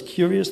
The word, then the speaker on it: curious: He pronounces it like there is no letter R in the middle. Curious.